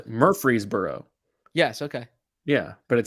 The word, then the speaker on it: Murfreesboro: a joke that's not you mean murphy's burrow like what is this are you misspelling this on purpose no mur freeze burrow okay no wait so wait so did i pronounce it incorrectly is it no you use murfreesboro yes okay yeah but